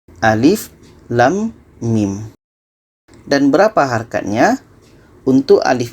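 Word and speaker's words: الم: kita harus baca satu-satu ini dibaca Alif yang ini dibaca lam dan yang ini dibaca Mim jadi dibaca Alif Lam Mim Alif Lam Mim dan berapa harganya untuk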